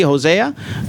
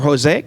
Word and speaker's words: Hosea: And we're also going to have Director Ann Blake from, and also Sydney Zwicker and Christy Hosea, or Jose, like she likes to pronounce it.